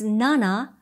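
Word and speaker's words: 七: 7 is nana, as in na na na na na na.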